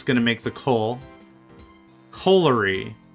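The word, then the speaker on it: colliery: And we've got, yep, a coilery here. That's going to make the coal. Coalery. A coalery and a coilery are two separate things. I mispronounced it. I said coilery.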